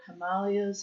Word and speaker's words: Himalayas: The abominable snowman of the Himalayas or Himalayas as it's actually pronounced. And I should know better because my neighbor next door corrected me numerous times.